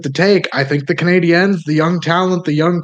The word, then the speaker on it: Canadiens: You gotta go with the Canadiens. Is that how you say it? Canadiens. Canadiens. Canadiens. N. Ends. Yep, there you go.